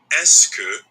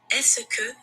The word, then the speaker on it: est-ce que: Est-ce que is made up of 3 words. Est-ce que. Since est-ce que is such a common phrase, it's usually pronounced est-ce que when it's said quickly.